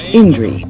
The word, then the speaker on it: INDRHI: the government irrigation system, known by its acronym INDRHI, pronounced INDRI.